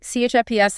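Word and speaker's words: CHIPS: CHFPS Act, pronounced just like the snack.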